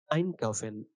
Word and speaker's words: einkaufen: Der Vocal Accent ist immer auf dem Präfix einkaufen. অর্থাৎ আমরা যখন ট্রেনবারে ভার্বেন পড়বো, তখন আমার সবসময় যে accent কিংবা যেই জায়গাটা আমি জোর দেব শব্দ উচ্চারণের ক্ষেত্রে, সেটা সবসময় হবে প্রিফিক্স। যেমন einkaufen, einladen এরকম ভাবে।